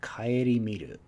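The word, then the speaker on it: 顧みる: Kaeri miru. This is a new kanji, though we do know this pronunciation on different kanji, not this one particularly.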